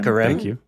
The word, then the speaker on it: Hecarim: Dante's League of Legends, he's the world best with Hecarim. Is that how I pronounce this champion? Hecarim.